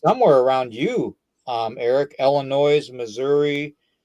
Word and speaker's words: Illinois: It's not Illinois. It's Illinois. No, it's Illinois. Look how it's spelled.